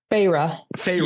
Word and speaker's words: Feyre: How do we pronounce her name? Feyre. Yeah, I was going to say that's how it's in the audiobook. Feyre, like Archeron.